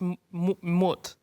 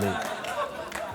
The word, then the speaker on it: moot: Each team will get 45 seconds to deliver their arguments on each m...mut. (LAUGHTER) It's pronounced 'moot'.